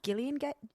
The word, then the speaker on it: Gillian: so you know um julian jacobs yes you know what's pronounced gillian gillian gay gillian jacobs i feel like i